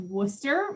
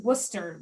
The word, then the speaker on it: Worcester: how to pronounce it just forget about most of the letters in the middle of the word worcester and just say wpi and you'll be much better off so to get us